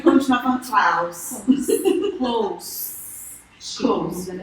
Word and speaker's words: Clouz: Mas fala a pronúncia do close pra ver se você lembra.